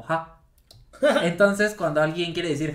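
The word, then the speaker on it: ห้า: en el idioma taeo en el idioma tailandés el 5 se pronuncia como Ja Entonces cuando alguien quiere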